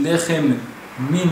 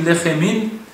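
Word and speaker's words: לחם מן: Quand on dit hamotzi lechem min haaretz, si on dit lechemin, alors ça fait lechamin. On réunit les deux mêmes ensemble. Alors ça fait un mot, lechemin. Comme si on ne prononce pas le premier même de lechem.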